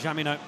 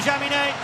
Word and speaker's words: Jaminet: Don't pronounce the CH. There we go. Now we all know. So, a sing-song ahead of Jaminet.